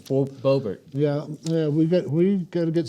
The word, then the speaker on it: Boebert: What's the Bobbert's name? I always screw it up. It's Boebert. I always say Loretta Bobbitt. Yeah, it's Boebert Yeah, we got to